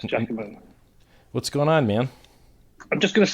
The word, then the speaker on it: Giacomo: pronounce Giacomo before. Yeah, it's Giacomo.